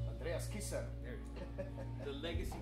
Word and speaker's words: Andreas Kisser: Did I pronounce that correctly? Andreas Kisser.